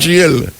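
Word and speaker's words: gaol: Yeah, I'm saying G-A-O-L and G-L. Yes. Yeah. So the English people spell it all the time. They spell it G-O-A-L-G-L. The whole time, yeah, that them spell it.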